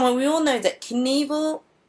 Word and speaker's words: Knievel: Come on, we all know that Knievel was made up to rhyme with evil, right?